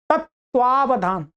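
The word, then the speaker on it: तत्त्वावधान: परंतु यहां पर क्या है, यहां पर एक त लिखा था बस, एक त, परंतु इसके अंदर दो त होते हैं। आप जब उच्चारण करेंगे तो क्या है, तत्वावधान, तत्वावधान अपने आप आएगा, ध्यान से करेंगे, तत्वावधान, तत्वावधान माने तत्वावधान।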